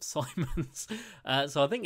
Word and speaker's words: Simons: I think it's Simons. I think someone described it as Diamonds, but Simons.